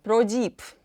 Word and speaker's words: Prodipe: ProDeep – французький бренд звукового обладнання. У Франції назва бренду вимовляється ProDeep, таким продовгуватим «і». В Америці, в Німеччині його вимовляють як ProDeep, а в Польщі – ProDeep.